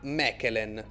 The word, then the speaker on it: Mechelen: Si vola a Mechelen o Malin per chi lo pronuncia in francese, squadra che milita nel campionato